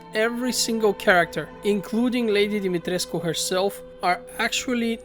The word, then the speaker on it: Dimitrescu: single character including lady dimitresco herself are actually not pronouncing the name correctly i mean her pronunciation is the worst of all she literally says domitrisk instead of dimitrescu the next zone i